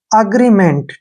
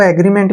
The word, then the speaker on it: agreement: अग्रीमेंट, ठीक है, आप इसको एग्रीमेंट भी पढ़ सकते हैं और अग्रीमेंट भी पढ़ सकते हैं।